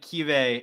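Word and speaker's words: Keawe: Jaron, is it Kiave Sagapolutele? It's like Kive. It's like the W is like a V sound.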